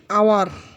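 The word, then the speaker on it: hour: আওয়ার এর পূর্বে consonant আছে, তাই এখানে এ ব্যবহার করা উচিত ছিল, কিন্তু এখানে এইচটি উচ্চারিত হচ্ছে না, এটি ভাওয়েলের মতো উচ্চারিত আওয়ার, তাই এখানে এ না বসে এন বসবে, এন।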